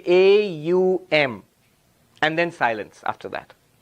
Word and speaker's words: Om: The rules of Sanskrit grammar say when you put a and u together it becomes o.